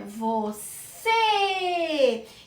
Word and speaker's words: você: Então é você. Então essa sílaba é a mais forte, é a sílaba tônica.